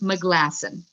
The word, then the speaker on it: Meglasson: meglison that's spelled m-a-g-meg it's m-e-g l-a-s-s-o-n it's pronounced mcglassen um so there's her website and i definitely